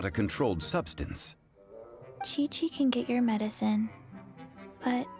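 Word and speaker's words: Qiqi: You help Chi-Chi. Only fair. Buti na lang narinig ko. Kasi kung babasahin ko pa lang to, medyo masagwa pakinggan yung pangalan kapag binanggit ko yung una kong naisip na pronunciation. Kiki.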